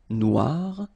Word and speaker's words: noir: you will have to add this at the end of no for the feminine form but then you don't pronounce it okay so phonetically it is exactly the same Noir Noir Okay g don't pronounce